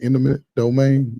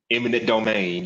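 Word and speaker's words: eminent domain: out in the intimate what how you pronounce it intimate domain they made him go imminent domain yep because once President Obama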